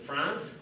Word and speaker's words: France: is it France? Am I saying it right? Yep. Yeah. Mr. France is perfect.